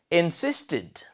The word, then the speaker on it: insisted: And third word, insisted. Insisted. What is the final sound? It. Good. Try pronouncing it. Insisted. Good. So it comes under it. Pronunciation. The final sound of insisted it, id.